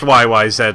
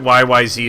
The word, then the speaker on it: YYZ: Oh, it's pronounced YYZ, my friend. Anybody who pronounces it YYZ is lying. And the reason why, besides the fact that they're Canadian and therefore the proper pronunciation, that symbol introduction at